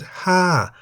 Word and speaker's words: ห้า: There is also Ha, meaning the number 5, in the falling tone because the word Ha has one syllable that begins with a high-class consonant Ho Heb and has the tone mark Mai To.